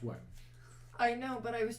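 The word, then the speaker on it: wyrm: It's pronounced worm.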